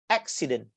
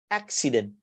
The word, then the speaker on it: accident: So if you look at here, the first syllable, so here you have to pronounce the A, here you stress, accident, accident. This is the first one.